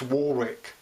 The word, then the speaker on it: Warwick: Pronounced Warwick.